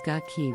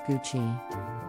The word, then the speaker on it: Gucci: Gucci this Italian luxury fashion brand is often mispronounced as gucky but the correct pronunciation is Gucci the brand is known for its iconic GG